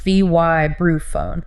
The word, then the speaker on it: vibraphone: Pronounced V-Y-brū-phone. Long I at the start. From the word vibrate.